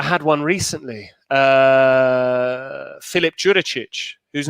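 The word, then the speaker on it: Đuričić: one recently uh philip jurichic whose name is actually urichic the d is silent but i've been calling him juricic with a dj sound for six years so i thought well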